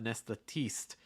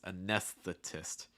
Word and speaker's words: anesthetist: test test interesting because that t does not take a fast d sound so it's not a dist it's going to stay pronounced that t test also make sure that that eye stays a short eye so it's not teast it's not anesthetist it's anesthetist anesthetist okay um oh yeah